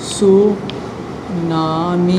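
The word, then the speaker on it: tsunami: बस इसमें टी क्या होता है आपका? साइलेंट होता है। क्या होता है आपका? साइलेंट होता है। टी आपका जो है वो साइलेंट होता है, इसको सुनामी ही कहते हैं।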